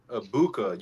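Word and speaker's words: Egbuka: Mecca Ibuka. You don't pronounce the G.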